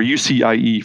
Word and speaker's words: UCIe: First up is the new industry consortium announced on March 2nd, the Universal Chiplet Interconnect Express Standard, or UCIe for short, rhymes with PCIe.